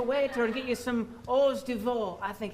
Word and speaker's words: hors d'oeuvre: find us a waiter and get you some hors d'oeuvre. I think it's pronounced. What? Hors d'oeuvre. You never heard of them? I'll try anything once. Let's do it. Right? It's actually pronounced hours devoured.